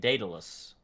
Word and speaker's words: Daedalus: here on uh red uh word i cannot pronounce and de dallas daedalus yes date daedalus yes they download it is that english it's